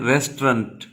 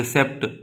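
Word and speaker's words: receipt: रिसेप्ट। आप रिसेप्ट पढ़ते हैं, वो गलत प्रोनाउंसिएशन है। The correct pronunciation of this word is रिसीट। क्या पढ़ते हैं?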